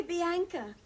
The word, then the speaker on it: Bianca: but do call me Bianca why well it all started with a film I was going to do a fool Barbara's gonna do a film I'm sorry it's easy to remember rhymes with anchor Brendan Jackson lot sit